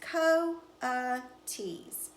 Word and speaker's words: coatis: pigs or raccoony dogs these are coatis mrs. Brisbane said reading from the letter pronounced Co T's the Cova cheese looked